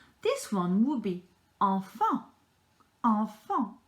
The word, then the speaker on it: enfant: Enfant. Have you noticed, in fact, you have E and an N and an A and an N. So you have the same pronunciation twice in this word.